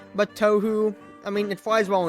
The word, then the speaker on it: Touhou: Also, should be said, it's spelled T-O-U-H-O-U in some ways, but it's actually just T-O-H-O, Toho Project, but Tohu, I mean, it flies